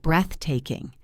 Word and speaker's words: breathtaking: Look at the word breathtaking. The stress is on breath. Breathtaking.